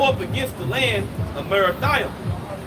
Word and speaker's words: Merathaim: Verse 21, go up against the land of Merathaim. That's how you pronounce it in the Hebrew as well.